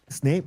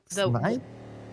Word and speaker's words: Snipe: Snape or what was the what was the pronunciation again that time? Snipe. Snipe. Yes.